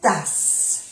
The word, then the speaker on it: tasse: Quelques verres et quelques tasses. Verre, no se pronuncia la E y la S es del plural. Igual con tasse, se pronuncia bien la S porque hay 2 S.